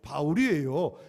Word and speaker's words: 바울: 사울은 히브리식 발음이고 지금 헬라 사람들 상대하기 때 헬라식 발음이 바울이에요.